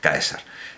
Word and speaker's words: Caesar: Como la letra C seguida de vocal se pronunciaba en la Roma de entonces como K, las legiones de Germania invocaban a su jefe supremo como Caesar, pronunciado Caesar, que todavía hoy se escribe